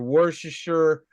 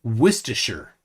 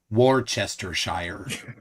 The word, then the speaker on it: Worcestershire: could be completely wrong I've heard Worcestershire Worcestershire but I yeah it's definitely looks like War Chester Shire but it could be